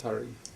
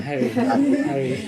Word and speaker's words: Hari: We have Prince Hari. Prince Hari. Harry. Same pronunciation.